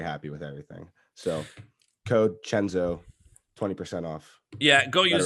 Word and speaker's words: Cenzo: amazing is that it's pretty cool so just spell it right there's no h in chenzo about it no c-e-n-z-o so you'll get 20 off plus free shipping